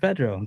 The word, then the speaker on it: Pedro: Anyway, it's easy though. It's just Pedro.